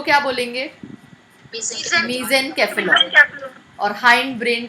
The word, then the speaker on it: cephalon: Brain को बोलते हैं केफेलॉन या सेफेलॉन। The more correct pronunciation is केफेलॉन। However आपके लेवल पे उसको सेफेलॉन भी अगर आप प्रोनाउंस करते हो तो इट इज़ ओके।